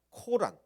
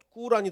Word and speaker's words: 꾸란: 아주 크게 먼 데 코란 더 꾸란이 더 좋은 발음이라고 하죠 코란에 나오는 선악과 이야기와